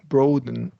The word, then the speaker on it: broaden: You can broaden your horizons by traveling to new places. Okay, and then we're going to do a short O here, broaden.